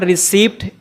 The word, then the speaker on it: receipt: It's not receipt, it's receipt. Receipt. You have to pronounce it receipt.